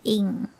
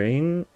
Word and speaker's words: Ng: How do you pronounce NG? Oh, I think it's Ing.